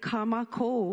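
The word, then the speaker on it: Kā Mākou: different parts of it, we can look at Ka Makou with a kahako over the a, both a, to mean our. So if we say Ka Makou Kōnane and pronounce it a little bit different, it actually means our Kōnane that we get to partake in together.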